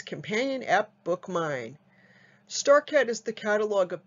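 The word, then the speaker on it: Bookmyne: your app store and bookmine is spelled b-o-o-k-m-y like my n-e the digital catalog and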